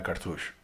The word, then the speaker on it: cartouche: Yeah, cartouche.